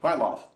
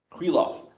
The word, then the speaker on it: Krylov: for embarrassingly many years I was pronouncing as wrong I would say quite lost um based on nothing except for the popular brand of spray paint called Krylon um okay my love oh it's Queen love I was like whenever